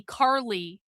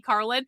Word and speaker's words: Karlyn: single one of them pronounces my name differently. So, Vintage Frames calls me Carly. One of the one of the the the girls I get my purses from, she calls me Carlen. Like, they call they've called me Carolyn. Caroline, like all the different things. I think a few people have actually gotten my name correct and they've called me Carlin, but almost every single